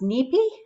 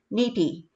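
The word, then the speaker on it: nipi: learned um so increa the word water is pronounced nippy n-i-p-i so give that a try one two three nippy in soto or ojibwe um the word water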